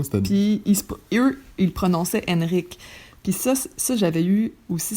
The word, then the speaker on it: Henrik: j'ai dit à Francis, j'ai peur que les gens prononcent trop le prénom Henrik au lieu de Henrik, puis qu'il va passer sa vie à dire non, c'est Henrik et non Henrik.